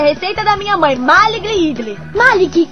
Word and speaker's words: idli: é o lance perfeito se escreve idli e se pronuncia idle idle é feito de